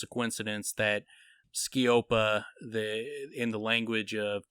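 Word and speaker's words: sceop: and listened to the words i was using skiopa chaos it's spelled uh ski op is spelled s-c-e-o-p ski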